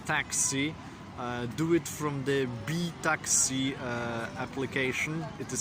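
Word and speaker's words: BiTaksi: to take a taxi do it from the B Taxi application it is spelled b-i-t-a-k-s-i and there are two versions in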